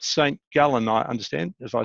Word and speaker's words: St. Gallen: St. Gallen, I understand. If I said that right, probably too Australian. How do you say that in Swiss? St. Gallen. St. Gallen.